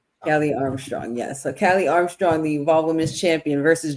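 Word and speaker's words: Kali Armstrong: Callie Armstrong. Kelly Armstrong. Yes. So, Callie Armstrong, the Evolved Women's Champion versus Jordan Grace, which was something I kind of didn't know I needed.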